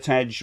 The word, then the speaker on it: Tej: Rob, Mrs. Tej rhymes with hedge.